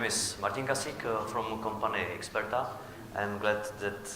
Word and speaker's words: Ixperta: My name is Martin Kasik from company Ixperta. I'm glad that pronunciation was good because in many cases customer pronounce it as Ixperta because it's somehow probably connected with iPhone or iPad. So I'm from company Ixperta, as I said, and